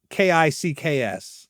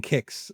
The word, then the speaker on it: Qix: Now that's not Kicks, but Kicks. Not like Kicks. I'm pronouncing it the way it's spelled, Kicks, as in Qix.